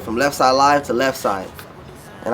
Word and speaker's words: Leffside: to left side and i spell it l-e-f-f-s-i-d-e because i'm like don't say left side when say left they say left side and it all sounds like one so i just went